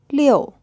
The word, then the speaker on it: 六: 六. This character is pronounced in the fourth tone, and it's the number 6.